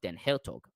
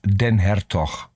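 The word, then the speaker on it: Den Hertog: to the reading of Dan hog to I to I never thought i' I'd be possible to to do this but it it's pronounced Den herto ah okay thank you he he's Dutch okay yes do uh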